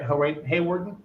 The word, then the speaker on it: Hawarden: I'm saying it right, Josh, right? Hawarden?